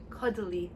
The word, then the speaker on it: Caudalie: Caudalie. Caudalie.